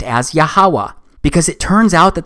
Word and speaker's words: Yahuwah: simple back then that it vocalized each consonant with an ah sound without specifically marking that sound between consonants so this yhwh it's pronounced yahawa it also turns out